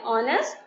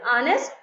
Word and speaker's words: honest: a stone palaces by honest the H is silent cafeteria to pronounce it is honest labor so any draft